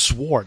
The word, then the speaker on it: sword: sword it's it's sword I actually pronounced the W what the hell what's sword what's up with that